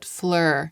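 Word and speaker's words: Fleur: posts about this brand Flur and I just oh now that I've said it out loud I get it Flur like flower like flower in French it's spelled pH lur and I had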